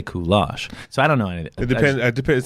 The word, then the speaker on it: Kulash: to pronounce a parent I get asked all the time if it's pronounced goulash or cool ash and I'm like I don't know Oh but I'm told